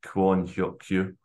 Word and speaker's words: Kwon Hyeok-kyu: Anyway, so slightly different because it's they pronounce the last name first, so it'd be Yang Hyun-Jun and Kwon Hyeok-Kyu.